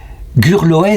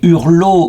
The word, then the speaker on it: Gurloès: Gurloez, c'est le nom breton qu'on lui donne, qui s'appelait aussi Hurlo ou Hurlou ou Saint-Hurlou. Il y a plusieurs prononciations, peu importe.